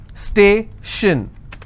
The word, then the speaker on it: station: Station, so I will stress on stay.